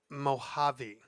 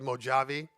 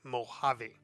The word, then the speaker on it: Mojave: people wherever they live, it's pronounced Mojave. I know a lot of people pronounce it Mojave, but it's actually the J is silent, so it's Mojave.